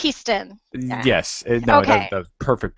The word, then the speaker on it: Hiestand: interviewing, and it's Hiestand. I said your name right? Perfect. It's a hard name. You know, I would totally say Hiestand, so yes. I want to say Hiestand, but it's Hiestand.